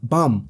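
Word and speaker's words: Baam: is the protagonist name bum in Korean it's pronounced the same as in English but what is really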